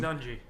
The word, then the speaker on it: Nunge: I always screw up how to say his last name. Nunge. Nunge. Yeah. Throw that hard E at the end of that.